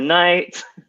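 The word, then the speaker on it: knight: K is for night.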